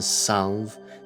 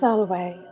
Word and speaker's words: Salve: Yes, I have done my research on you, Sin Salve. It's pronounced Salway.